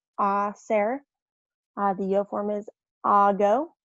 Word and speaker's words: hacer: Remember, the H sound in Spanish is silent. You don't pronounce the H, so it's hacer, not hacer. So it's hacer.